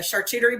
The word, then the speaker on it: charcuterie: I yeah pardon me I call them coochie boards but they're charcuterie boards I'll tell Alicia I